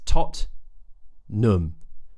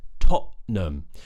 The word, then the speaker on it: Tottenham: the football team it's totn but many people will pronounce this with a glottal T in the middle so instead of being totn it might be totam the glottal te is